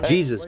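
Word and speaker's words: Jesús: In English, you got one. In Spanish, you got another one. In Spanish, Jesus. Jesus. Jesus. Yeah. Jesus, born in Cuba, now captains a yacht.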